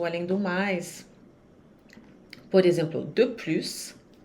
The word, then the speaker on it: de plus: Por exemplo, de plus, e aqui o S se pronuncia. O plus, às vezes se pronuncia, às vezes não, mas nesse caso, sim. Então, pronuncia esse S.